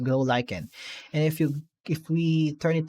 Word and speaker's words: glow lichen: That's how it is pronounced, glow lichen.